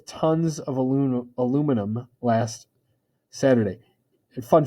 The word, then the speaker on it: aluminium: 7 4 tons of aluminum aluminum last saturday and fun fact in britain they pronounce it aluminium yeah so there you